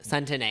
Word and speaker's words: Centineo: And I'm not even trying to Centineo.